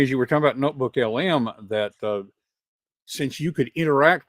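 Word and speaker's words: NotebookLM: And, although it did occur to me, as we're talking about the notebook LM, am I saying it right? LLM, notebook LLM. LM, it's just notebook LM.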